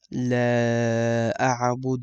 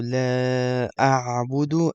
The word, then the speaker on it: لا أعبد: Make sure you pronounce that. The articulation point is from the middle of your throat.